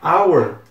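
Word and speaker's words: hour: R mesmo House he agora our Não esse não tem esse som de R é como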